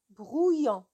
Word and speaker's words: brouillon: Le mot brouillon, il y a quelques élèves, bien sûr, qui voient O, U, I et ils prononcent le son oui, comme une feuille de brouillon. C'est faux. C'est faux. Alors, c'est brouillon. Alors, et si je vous